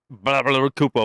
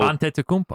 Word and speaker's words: Antetokounmpo: We have Kawhi Leonard versus Giannis Kupo. Antetokounmpo. Antetokounmpo. Good job, Steve. Say it. Antetokounmpo. Good job, Steve. Spell it, Steve.